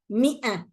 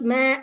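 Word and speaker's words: مائة: Mi'a. The alif is not there. Mi'a. Not ma, mi'a. I don't know how you read it. It's mi'a.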